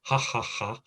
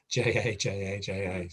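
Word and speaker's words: jaja: When you see ja, how do the Spanish say a J? It's a F sound. So we say ha ha ha. They say ha ha ha. They just spell it J-A. So yeah, ha ha ha, not ja.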